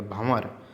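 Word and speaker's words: भँवर: अंक की बात, चंद्र बिंदी बोलना पड़ेगा। भंवर।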